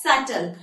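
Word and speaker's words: subtle: एम बी as bomb I am pronounce इंग एस यू बी टी एल ई एस सटल एंड आई am pronounce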